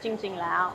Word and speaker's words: จริงๆแล้ว: Seems to be one of those, but and I do like jing jing lao as well. จริงๆแล้ว okay. Yeah. So like, Was that pronunciation okay? Yeah, จริงๆแล้ว yeah. Jing jing lao.